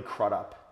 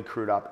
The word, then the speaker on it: Crudup: by the name of Billy crudup or baby people pronounced Billy crude up and this guy at